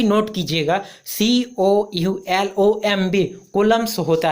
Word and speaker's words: Coulomb: इसको ठीक से प्रोनाउंस कीजिएगा और इसका स्पेलिंग भी नोट कीजिएगा, COULOMB कूलम्स होता है।